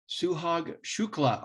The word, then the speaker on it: Suhag Shukla: And today I am privileged to have Suhag Shukla on the program. And yes, that pronunciation is correct.